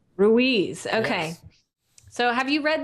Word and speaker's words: Ruiz: how to say his name ruiz don miguel ruiz ruiz okay so have you read this book i